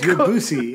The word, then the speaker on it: Debussy: And the punk rockers that you could be in this quiz are Francesca Caccina, Wolfgang Amadeus Mozart, Claude Debussy. How do you say that? Debussy? Debussy.